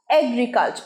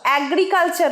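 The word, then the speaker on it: agriculture: এগ্রিকালচার, অ্যাগ্রিকালচার নয়, অনেকেই বলো অ্যাগ্রিকালচার, ভুল, এগ্রিকালচার, এগ্রিকালচার।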